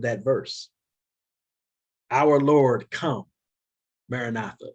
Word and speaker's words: maranatha: We tend to pronounce that word Maranatha. It's Maranatha, but that's neither here nor there.